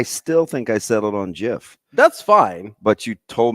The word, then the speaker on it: GIF: It's graphics interchange format, but it's still graphics. The G is the hard G.